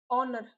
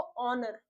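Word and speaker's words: honour: ऑनर क्या होगा, हमारा एच साइलेंट होगा, पढ़ेंगे उसको ऑनर।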